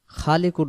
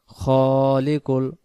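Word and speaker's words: ٱلْخَالِقُ: আয়াত হুয় আল্লাহুল খালিকুল আবার হু আল্লাহুল খালিকুল খালিকুন উচ্চারণ হবে না উচ্চারণ হবে খালিকুল খবর খে আলিফ আবার হুয় আল্লাহুল খালিকুল বারিউল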